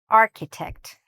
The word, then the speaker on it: architect: The "ch", again, doesn't sound like "ch", it sounds more like a "k" sound. "Architect", "architect".